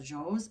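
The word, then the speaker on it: dzo: the children of Corfe, even the yaks, the joes, and the goats, and the sheep, all marched together to our new school.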